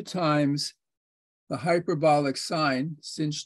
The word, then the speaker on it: sinh: T minus Cosh t the way you pronounce hyperbolic sine is sinh is cinch and the way you